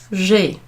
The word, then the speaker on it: j'ai: So instead of saying je ai, we just put j'ai.